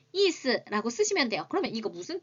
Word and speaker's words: 意思: 중국은 이스라고 합니다. 한자 좀 많이 아시는 분들은 그대로 의사라고 읽습니다.